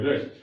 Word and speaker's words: read: Spelling एक ही है, उच्चारण बदल जाता है।